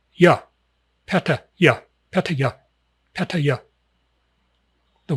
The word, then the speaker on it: Pattaya: Give it a little brief pause. Ya. Patta. Ya.